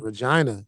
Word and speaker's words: Regina: Is it Regina in Saskatchewan? Regina. Regina. One of my former teammates. The name that rhymes with fun.